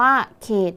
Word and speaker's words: เขต: ดี ๆ นะ คะ คำ นี้ มี ตัว สะกด เป็น ต เต่า แล้ว ก็ ออก เสียง พยัญชนะ ท้าย เหมือน ด เด็ก ดัง นั้น คำ นี้